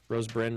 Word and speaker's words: Rose Byrne: I think the hero is actually probably Rose Byrne. Byrne. Is it Byrne? Byrne. Or Byrne? Byrne. Which one is it, Marissa? Rose Byrne, Rose Byrne.